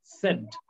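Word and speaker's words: said: was writing a letter উচ্চারণ তুমি বললাম সেইড হবে না সেড করিম সেড দ্যাট ঠিক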